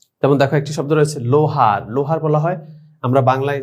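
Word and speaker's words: لوہار: তো লাম ওয়াও পেশ লো হে আলিফ রে, এটা কিন্তু আমরা লুহার বলি, তাহলে ভুল। একটু আগে যে আমরা ওয়াই মারুফ উচ্চারণ শিখেছি সেখানে কিন্তু দীর্ঘকার, এখানে দীর্ঘকার নয়, এখানে বাংলায় ওকারের মতো উচ্চারণ হবে। লাম ওয়াও পেশ লু না, লাম ওয়াও পেশ লো, তাহলে লোহার।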